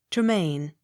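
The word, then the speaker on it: Tremayne: a y n e tremaine accent on last syllable t-y-r-w-h-i-t-t tear it h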